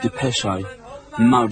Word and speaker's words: Depeche Mode: Depeche Mode. And we just decided we liked the sound of that name. And we took off the accent and we just kept the pronunciation.